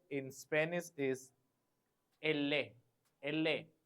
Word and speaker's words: elle: We have to give the stress on double L. Elle. It is E-double-L-E.